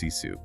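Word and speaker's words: sisu: Consider the ancient Finnish concept of ciu. It's pronounced ciu.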